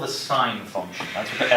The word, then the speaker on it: sin: So SIN, so sin, or sine, that's how you pronounce it, sine, of an angle.